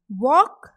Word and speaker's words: walk: am repeating carefully listen walk straight more caught and talk yes i know you all have guessed by this repetition now in the first word walk the letter which is silent is l we say walk not